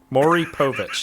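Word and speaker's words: Maury Povich: the cameri it's maii Mai Mai Mari poic Mor Povich is how you say Mori poic and that's spelled m a UR y so Maui I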